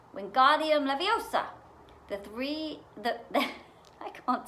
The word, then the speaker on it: Wingardium Leviosa: wasn't having much luck wingardium leviosa he shouted waving his long arms like a windmill you're saying it wrong harry heard hermione snap it's wingardium laviosa make the gar nice and long you do it then